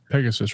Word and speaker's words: Pegas: yeah yep pegas okay so Pegasus and pegas are different oh so it's pegas not Pegasus yeah p g a